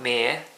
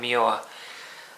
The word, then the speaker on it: Muir: Highlight of the game, in my opinion, was the standing goalkeeper Liam Muir, not Mere. I say it right this time, Muir.